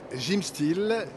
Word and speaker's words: Gymstill: Voilà, Jim Style mais qui s'écrit S I L comme en anglais parce que c'est une sorte de gymnastique immobile que l'on peut faire totalement assis.